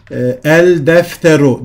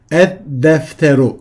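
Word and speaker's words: الدفتر: El artı defterun eşittir el defteru değil ed defteru şeklinde okunduğu gibi.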